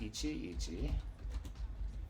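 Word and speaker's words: 一々: on the right side used with the ditto sign which is pronounced Ichi Ichi and means one by one or every single one or in detail Ichi Ichi is one by one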